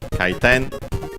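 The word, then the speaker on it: 回転: It's composed of kaiten, which means rotation. Yes, unaccented, kaiten, rotation, revolution, turn, spin, and then several other extended meanings, but we don't need them for now.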